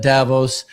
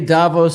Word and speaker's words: Davos: they said at, how they presented themselves at Davos.